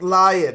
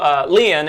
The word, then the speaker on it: Leon: It's pronounced lion. It's pronounced lion. We have to make sure we remember that. And then right next to Leon, it's pronounced lion, we have...